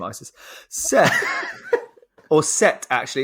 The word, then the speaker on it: Seth: Seth, or Set, actually. It's spelled Seth, but I think it's pronounced Set.